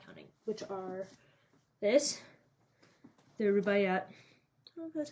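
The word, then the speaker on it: Rubaiyat: that I'm not counting which are this the rubayat that's how you say it of Omar kayam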